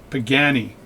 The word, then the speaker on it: Pagani: pagani design pagani design pagani my wife told me you know it's spelt pagani not beginning so you said all this beginning stuff but anyway pagani